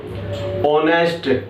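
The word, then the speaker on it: honest: Knife, या फिर नी, ऑनेस्ट, answer. अब इनमें क्या हो सकता है, जैसे कि नाइफ में के वर्ड साइलेंट है, नी में भी के वर्ड साइलेंट है, ऑनेस्ट में एच वर्ड साइलेंट है, आंसर में डब्ल्यू वर्ड साइलेंट है।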